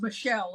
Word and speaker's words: Michel: Is that how you pronounce it? It Michael? is. It is. Right. It got Okay. anglicized once upon a time. Right. Okay. Because normally it's Michelle, isn't it?